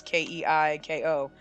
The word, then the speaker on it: Keiko: and I see Keiko and Keiko is Kei ko and it's pronounced Keiko so K would be okay that makes sense cuz I just ki doesn't write I don't think it's Kylie cause Kylie would be ki so okay okay okay